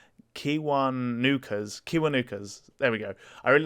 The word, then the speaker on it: Kiwanuka: Oh god, I'm gonna pronounce this definitely wrong. Kiwanuka's.